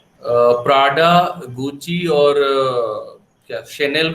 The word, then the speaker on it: Chanel: अच्छा, शेनेल की स्पेलिंग क्या है? CHANEL। उसको क्या पढ़ते थे, क्या पढ़ते थे तुम लोग? Chanel। चैनल नहीं पढ़ा किसी ने?